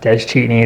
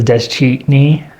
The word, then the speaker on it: Deschine: Yep, that's Deschine, and that's Navajo origin. Pronounced Deschine is a silent, there's a T in there, but it's not listed. Interesting. Yeah, so it's Deschine.